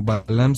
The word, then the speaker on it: BALVM: nos pueden encontrar como Balam official Balam en instagram así como como se escucha En plataformas como Balam se escribe B a lvm la v es una av volteada Entonces es como cuidado